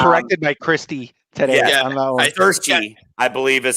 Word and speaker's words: Saoirse: I'm gonna look here and make sure I'm pronouncing her name right. Saoirse Ronan. I got corrected by Christy today. Yeah, Saoirse, I believe, is how I eventually found how to spell her name today.